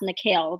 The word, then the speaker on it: Nikil: I go by Nikil too, but it's pronounced Nikil.